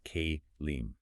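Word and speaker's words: כלים: The Hebrew word there is kelim, pronounced kalim.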